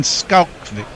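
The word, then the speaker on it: Schalkwyk: Our local pronunciation expert, Brian Barris, says it's Van Skalkvik.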